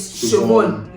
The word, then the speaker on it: Siobhan: You know that one is Neve, and you know that other one is Siobhan.